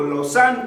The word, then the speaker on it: Lausanne: Ejemplo de esta visión reformadora la encontramos en Ginebra, en Lausanne, o Lausanne como ellos lo pronuncian, Zúrich, Escocia y otras